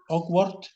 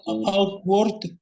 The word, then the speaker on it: awkward: Jadi ini bukan seperti A, but E ya, awkward. Awkward. Okay. Outward.